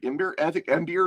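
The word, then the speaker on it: Ymyr: And they're guarded by the emir which are or imir emir is how I pronounce it.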